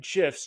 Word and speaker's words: GIF: to make your emails pop by adding animated gifs in MailChimp I'm from Gmail and in today's video I'm going to cover exactly how to insert animated gifs directly from Jiffy using MailChimp tools let's get